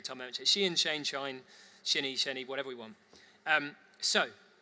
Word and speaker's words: Shein: final and very controversial example of that is Shein, Shein. Everyone pronounces it differently. And I've heard it every single way, so I'm still going to just say that every time I mention it. Shein, Shine, Shinny, whatever we want.